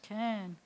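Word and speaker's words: כן: final none can okay and that means yes can and low is no can this is how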